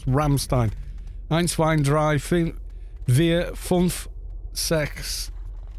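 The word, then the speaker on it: Rammstein: the way to say no it's german so you say in the with german pronunciation surely ramstein ramstein not ram stain ramstein sounds like oh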